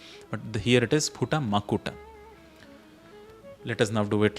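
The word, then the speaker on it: मकुट: So there is a tendency to pronounce this as Mukuta. Mukuta is also a valid word actually. So there are these words which are slightly, interchanged in usual language. So one is Makuta versus Mukuta.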